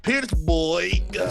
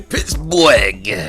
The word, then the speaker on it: Pittsburgh: All right, and the Warriors of FONZ, Pittsburgh. See, you said it wrong. You gotta say Pittsburgh. Oh, okay. Anyways, you gotta put more breath in there.